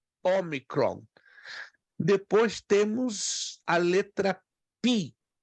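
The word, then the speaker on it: ὄμικρον: Depois, a próxima, Omicron, muito parecida com a nossa letra O, só que ela se pronuncia como a palavra cor, Omicron.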